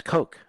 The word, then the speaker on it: Koch: That's Coke. And that's spelled K-O-C-H, not, C-O-K-E.